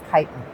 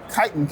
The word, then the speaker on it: Kytin: And as we're exploring names and whatnot, Kytin came out. So the phonetic spelling of Kytin is spelled Chitin, which is an exoskeleton of anthropods and insects.